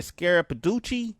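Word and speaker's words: Scarapiducci: Scarapaducci?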